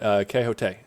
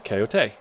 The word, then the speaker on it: Keote: But Keote. Okay. So it's very close to like, kind of close to coyote, but like it's Keote.